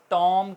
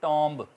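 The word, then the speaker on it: tomb: इसी तरह टॉम मकबरा होता है तो टॉम कहेंगे ना कि टॉम्ब, बी साइलेंट रहेगा।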